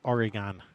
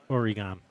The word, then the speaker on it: Oregon: So say it just like Jimmy Matthias said it. Oregon. Exactly. Oregon. That's how you say it, right?